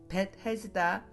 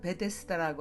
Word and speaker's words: 벳헤스다: 양들이 들어가는 문 곁에 자비의 집이라 불리우는 벳헤스다 못에는 들보를 이어 만든 주랑이 5이나 있었습니다. 우리가 예전 성경에서는 베데스다라고 하잖아요. 원문으로는 벳헤스다라고 읽습니다.